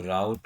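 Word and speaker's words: route: Export default, इसको राउट रूट दोनों बोलते हैं, साउथ स्टाइल में राउट और नॉर्थ स्टाइल में रूट, ठीक है।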